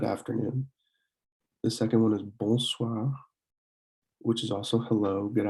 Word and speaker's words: bonsoir: The second one is bonsoir, which is also hello, good afternoon, or good evening.